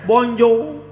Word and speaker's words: bonjour: Bacanya bonjour.